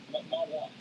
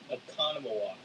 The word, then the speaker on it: Oconomowoc: Okonomowak. They blended it. I got the pronunciation Damn. from Riley, who lives in Wisconsin. Okonomowak. Go ahead, Riley. Oconomowoc.